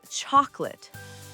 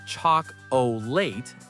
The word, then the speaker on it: chocolate: And chocolate. It's not choc-o-late, it's chocolate. Two syllables. The middle O is gone.